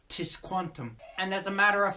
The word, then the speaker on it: Tisquantum: Well, I call him Squanto as that's what he's famously known for, though the pronunciation of his name in his Native American tongue was Tisquantum.